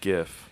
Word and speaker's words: GIF: I'm like, I But say I GIF. think I go with actually, GIF. I think actually the guy who invented GIFs or GIFs? GIFs, I think he pronounced it GIF.